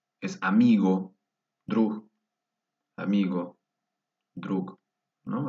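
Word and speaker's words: друг: fuerte, es una clase, drug, drug. Es amigo, drug, amigo, drug, ¿no? Así más o menos como la G al final, amigo.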